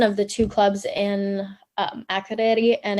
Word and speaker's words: Akureyri: So forgive me if I don't do the pronunciation justice, but it's Akureyri. Akureyri.